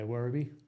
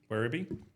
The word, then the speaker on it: Werribee: So Werribee, did I pronounce that right? Yeah, Werribee. Werribee.